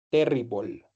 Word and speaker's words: terrible: Todas las palabras que terminan en el e, ¿cierto? En el e se pronuncian como si terminaran en OL. ¿Vale? Entonces, incredible, horrible, terrible. Listo.